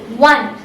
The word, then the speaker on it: one: consonant with an example one so in this word the first letter is a vocal little o but the pronunciation is of the consonants we all W therefore